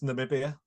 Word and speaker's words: Namibia: nambia so for any of you that get nambia you might might be in with a treat of getting the worst team of the tournament prize hello B it's Namibia nambia I knew that I knew that I